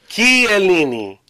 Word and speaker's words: Chiellini: Chiellini. Don't Chiellini. Chiellini. It's not a K-E-Y though. But you gotta pronounce it the way the Italians do.